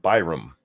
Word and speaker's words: Byram: We're going to be talking about a man named Everett Byram. Byram, yeah, that's how you say it.